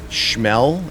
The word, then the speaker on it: Schmel: So, while this is happening, we also find out that Schmel, that's how you pronounce it, he's the engineer on the ship.